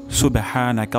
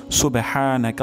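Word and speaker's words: سبحانك: না হা বলবো অর্থাৎ হা উচ্চারণ হবে গলার মাঝখান থেকে সুবেহা সুবেহা নাকাল্লাহ নাকাল্লাহ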